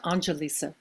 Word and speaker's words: Analisa: hi hi there um my name uh it's pronounced anelisa Angelisa oh that's right